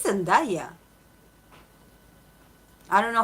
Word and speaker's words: Zendaya: It's Zendaya. I don't know how American pronounce it, but Well, Jaehyun likes them academic, intellectual, and women of color.